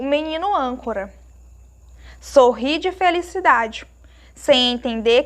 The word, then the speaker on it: âncora: Nós temos aí um acento circunflexo, que é o famoso chapeuzinho. Então, nós notamos também que na sílaba an, a sílaba é uma sílaba mais forte. É a sílaba mais forte, porque ela está acentuada.